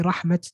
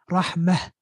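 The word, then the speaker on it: رحمة: So you have some languages, they say rahmat, they say ni'mat. But in Arabic, la. In Arabic, if you're going to say the word by itself, is ni'mah, rahmah.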